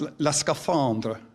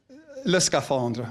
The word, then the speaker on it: le scaphandre: And actually, and see if I get the French right, where's Florence, see if she frowns, la scaphandre. Is that a correct pronunciation? Le scaphandre.